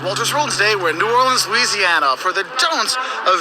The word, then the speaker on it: New Orleans: Think of it this way. It's like new, and then or, like what you row a boat with, and then lens, like a camera lens. That's how you say it, New Orleans. And you put the emphasis on that or, okay?